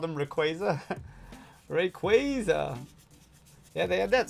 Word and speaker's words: Rayquaza: The Oxy movie the other day, and he was traumatized that he called him Rayquaza. Rayquaza. Yeah, they had that sign at Worlds that said it's pronounced Rayquaza.